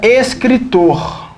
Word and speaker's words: escritor: A palavra escritor recebe acento? A palavra rapaz recebe acento? Vamos ver? Café. Café. Café. A sílaba tônica é o fé. É uma oxítona.